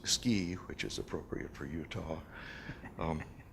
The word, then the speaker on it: SCI: You'll note that the acronym SCI is pronounced SCI, which is appropriate for Utah.